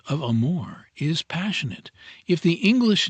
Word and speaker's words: amore: from that connoted by amore. Amore. You fairly sing the second syllable in a baritone voice from the chest with a little throaty tremolo on the surface to make it sound more palpitating.